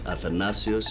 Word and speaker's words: Athanasios: poly chronus isn't it athanasios or am I pronouncing it wrong it's atanasio Yos polopos there's more vows in